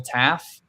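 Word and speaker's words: Taaffe: Is it Michael Taff? That's how I pronounced it.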